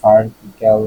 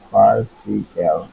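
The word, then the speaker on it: farcical: ফার্সিক্যাল হাস্যকর বা প্রহসনপূর্ণ, ফার্সিক্যাল বা ফার্টিক্যাল নাকি দেখি, কারণ you never know. ফার্সিক্যাল, ফার্সিক্যাল, ফার্সিক্যাল, আই was right, দেখছো, মানে হলো প্রহসনমূলক, হাস্যকর বা উদ্ভট, অথবা অ্যাবসার্ড, অযৌক্তিক।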